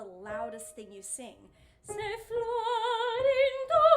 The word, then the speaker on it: Florindo: The very first line, Se Florindo e Fedele, the accent is on rin, of Florindo. Se Florindo e Fedele. That's where the accent is in the text.